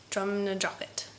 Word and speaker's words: Drumnadrochit: Yes, Drumnadrochit.